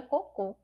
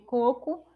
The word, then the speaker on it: coco: mais forte então Aí ficaria a pronúncia ficaria cocô e não pouco eu quero escrever coco Eu não coloco assento nenhum